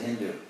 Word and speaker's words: Hindu: in ancient Persia, but they pronounced initial S as an H, so they said Hindu.